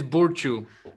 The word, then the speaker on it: Burciu: Do I pronounce it that way? It's Burciu.